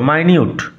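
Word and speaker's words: minute: আমরা পর্যবেক্ষণ করি ইন মাইনিউট ডিটেল উচ্চারণ লক্ষ্য কর মাইনিউট পুঙ্খানুপুঙ্খ ভাবে সমল ইয়েট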